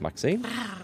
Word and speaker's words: Maxine: me what about yourself Maxine I'm the mayor's cat don't you know born and raised on Velvets and lions of most exquisite varieties maxine rhymes with queen after all and dearest